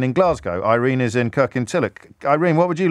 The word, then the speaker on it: Kirkintilloch: Irene is in Kirkintilloch. Irene, what would you like to say? Hi, well done. You pronounced that correctly.